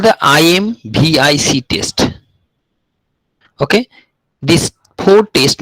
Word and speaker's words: IMViC: for the citrate, and lowercase I is added for the case of pronunciations. And IMV is actually four test. IMVC, but for your better pronunciation, it is IMVIC test.